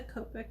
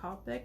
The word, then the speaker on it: Copic: companies have replaceable ones like the Copic markers or Copic depending on how you pronounce it and there's advantages